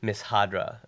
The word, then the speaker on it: Mishadra: It's called Miss Hadra, and it's spelled Mishadra.